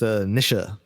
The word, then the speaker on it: Nietzsche: this is thing about Nietzsche right is I'm gonna go with the strangers bit for the record is pronounced a Nisha meet you Chad virgin